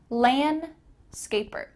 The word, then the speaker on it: landscaper: Notice that the D here is kind of cut out. Landscaper.